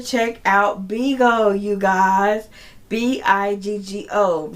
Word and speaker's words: Bigo: Biggo rhymes with bingo. Biggo.